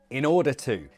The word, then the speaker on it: in order to: In order to. The stress is on norder to.